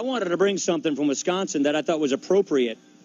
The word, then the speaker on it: Wisconsin: Kim, I want to thank you so much, but the pronunciation, we say Wisconsin through the nose. Wisconsin.